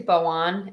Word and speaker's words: Bojan: Bojan says, I say his name wrong every time. It's actually Boan, and I should just call him.